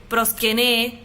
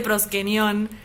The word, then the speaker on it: proskenion: Estoy editando el video y me di cuenta de que pronuncié una palabra mal, porque yo dije proskené todas las veces y se dice proskenion.